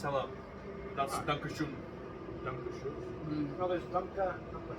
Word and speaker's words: Dankeschön: It's Dankeschön.